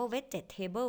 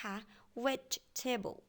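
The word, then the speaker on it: vegetable: เบิ้ล vet Table พระ จะ ไม่ อ่าน ว่า เวทเจท Table เด็ก ค่ะ นะ คะ นัก เรียน อีก ครั้ง นึง นะ คะ เวท Table vet Table แปล ว่า อะไร คะ ใช่ มี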